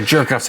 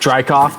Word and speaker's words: Drykoff: You guys are jerk-offs. It's pronounced Drykoff, thank you.